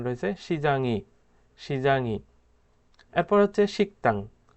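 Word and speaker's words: 식당: এরপর হচ্ছে শিকতাং, উচ্চারণটা হবে শিকতাং, শিকদাং হবে না, শিকতাং।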